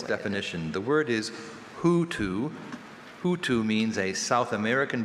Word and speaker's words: hoatzin: Hoatzin? Hoatzin. Hoatzin. Imitative origin. Hoatzin. Means you spell it how it sounds.